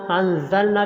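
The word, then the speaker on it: أنزلنا: کرنا ہے۔ وَلَقَدْ أَنزَلْنَا، انزلنا کے نون کو لمبا کرنا ہے کیونکہ اوپر مد ہے۔ الیک، کوئی حرف لمبا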